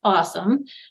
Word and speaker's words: AWSM: in science and medicine awsm which we pronounce awesome and so um that